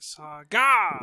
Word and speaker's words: SaGa: Then we got Saga, and I say it like that because it's Saga spelt with capital S, lowercase a, uppercase G, lowercase a. So like Saga.